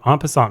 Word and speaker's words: en passant: And then we have en passant moves, or is it en passe? I forget how to pronounce this. Chess tense. Not that it matters. In passing. En passant. That's how everyone pronounces it.